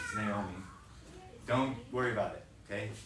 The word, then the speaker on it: Naomi: It looks like, not Ami or something, but it has that, so it's Naomi.